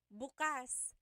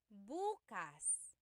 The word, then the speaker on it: bukas: If you say buas emphasis is on the first syllable that means tomorrow.